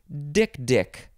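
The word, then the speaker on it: dik-dik: time I heard it it is dick dick I think the first Dick is emphasized it is d i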